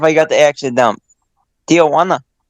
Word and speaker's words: Tijuana: got the action down tijuana is how they say it you gotta go with the the dj you get a juana tijuana a tihawana honda he ain't no